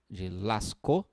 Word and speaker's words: Lascaux: das cavernas do da lascou se escreve lascaux l.a.s. sceaux lascas mas se diz se lascou que é uma uma